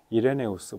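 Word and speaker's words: Irenaeus: 고대교회 교부 이신데 어 그 이레나이우스 어 이분이 원래 동방교회 출신이기 때문에 이제 이레나이 스라고 읽는 것이 더 어 아마 정확할 텐데 근데 이제 서방 교에서 활동을 하셨기 때문에 로마에서 많이 활동을 하셨기 때문에 이레네우스 보통 이렇게 읽게 되는 거 같습니다 어쨌든이 교 이레네우스 시대에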